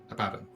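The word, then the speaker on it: Abaddon: the credit goes to abadon ab ab abadon uh right I think we said we I keep call him abon should be AB abadon shouldn't it abadon abon abadon not abon look I know that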